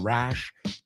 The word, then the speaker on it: rash: Rash is not pronounced the same as rush, right?